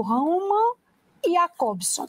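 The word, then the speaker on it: Roman Jakobson: lembrar um linguista chamado Roma e acobsom mas escrevemos um J mas a pronúncia aí rumo em apórter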